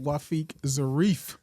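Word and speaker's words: Wafeeq Zarif: Also, too, just to clarify, it's pronounced Wafiq Zarif with the F at the end.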